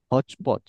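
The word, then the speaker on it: hotchpotch: হচপচ, হ্যাঁ হসপচ না, হচপচ এটা সঠিক উচ্চারণ।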